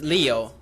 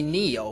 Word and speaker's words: Leo: and the last one my English name is Leo somebody call me Neo when they first hear hear my name because I my pronunciation